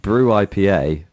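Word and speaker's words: Brut IPA: It is confusingly pronounced brew IPA, but that's brew spelt BRUT.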